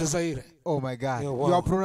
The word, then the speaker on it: Zaire: You said Zairua or something. It's Zaire.